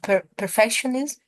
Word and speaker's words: perfectionism: you tell me the correct pronunciation of perfectionism? Yeah, so the last letters is ism. It's got a z, Think ism. so.